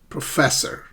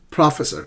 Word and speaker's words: professor: So do not stress the first syllable. It's the second syllable.